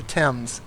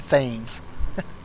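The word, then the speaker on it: Thames: flying up the T up the Tims towards London you'd be amazed how many people in the United States uh pronounce the Tims as the thingses so it says using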